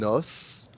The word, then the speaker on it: os: Et il existe aussi quelques mots où le S est prononcé à la fin comme dans les mots un os un bonus ou encore plus.